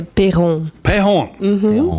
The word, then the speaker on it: Peron: and Peron from is it Peron how do you say exactly is it Pon we say pon pon okay I don't know